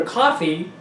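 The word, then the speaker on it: Ko-fi: And if you want to donate money, you can go to coffee, but it's spelled K-O-F-I.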